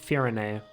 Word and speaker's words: Firene: Still weird to me that that's pronounced Firene.